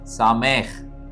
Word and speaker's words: שָׂמַח: ஒரு எபிரேய வார்த்தை இன்றைக்கு நாம் கற்றுக்கொள்ளக்கூடிய எபரேய வார்த்தை சாமே என்பதாகும் இதனுடைய பொருள் ரிஜாய்ஸ் சமே என்ற எபிரேய வார்த்தையினுடைய எழுத்துக்களை உச்சரிக்கிறேன் சீன் அதாவது ஷீன் என்கிற எழுத்திலே இடதுபுறம் புள்ளி